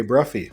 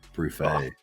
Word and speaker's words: Bruffey: of speaking with bruffy so welcome to the podcast what's up buddy well first thanks for saying my last name right most of the time everybody says bruy bruet it's always butchered I mean bruet is